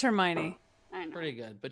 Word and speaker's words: Hermione: How do you pronounce the name that starts with H-E-R? Her. Hermione.